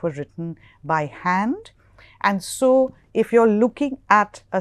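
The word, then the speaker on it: sans: that is known as a saw serif S A ANS pronounced so so serif or without serif we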